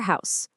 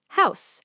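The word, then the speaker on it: Haus: For tree, it's balm. There it is again. Balm. Now, the word for house. House. H O S. This one's pretty much identical to English. And for woman, it's fra. Listen to that pattern again. Auto balm. House. Fra. It's the exact same sound every single time.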